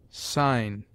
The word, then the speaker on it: sign: of words as finger G is mute before n as Nash sign foreign G before I is